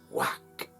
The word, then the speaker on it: Wak: And the glyph of the day is ik in the Yucatecan pronunciation, and the pronunciation for tone 6 is wak. So today is wak ik, and that means balancing breath and also flowing communication.